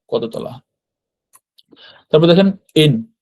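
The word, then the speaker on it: 円: জাপানি যে মুদ্রা ওগুলাকে আমরা তো ইংরেজিতে ইয়েন বলি ইয়েন কিন্তু জাপানিরা মূলত ইয়েন বলে না জাপানিরা এন এন মানে হচ্ছে মূলত ইন আর কি হ্যা এনটাকে ওরা এন বলছে তো এন মানে এখানে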